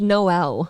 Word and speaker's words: Noel: That is pronounced Noel. Can I do my show? Yeah. In my show, it's Noel. Okay, it's Noel. Noel let you makes have more it. sense for a girl. I always thought Noel, not like, oh yeah, guys, it's spelled like the Christmas one.